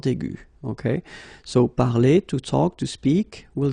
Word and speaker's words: parler: Okay, so parler, to talk, to speak, will give you parler. Okay, the good thing for the phonetical part is that it is the same. Parler, parler, you pronounce it the same.